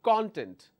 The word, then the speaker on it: content: When I stress on the first one, my pronunciation should be content. It should be content. K and O sound.